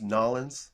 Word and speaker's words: New Orleans: It's actually pronounced Nolans. Nolans. I don't know. Nolans. Are we being snobby? We are being snobby. Good. No, I every time I talk to somebody from New Orleans, it's always like, you're saying that wrong, eh?